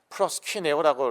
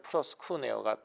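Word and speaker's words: προσκυνέω: 헬라어로는 프로스쿠네요. 뭐 플러스 퀸오라고 이렇게 뭐 한국 사람들이 이렇게 어 적어 놨던데 사실은 플러스쿠어가 더 정확한 발음이고 그것은 예 엎드리다 절하다 등의 뜻을 가지고 있습니다.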